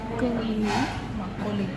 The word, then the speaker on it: makgeolli: I think it at the restaurant and we are going to have makgeolli.